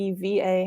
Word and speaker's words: Ewa: bug niko as well my name is spelt ewa but on the show i seem to be eva how you pronouncing it